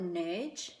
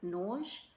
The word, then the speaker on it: Nurge: going to mispronounce it, I call it Nerge. It's spelled N-U-R-G-E, but the lady in the shop did pronounce it a little bit differently. I think she called it Nerge.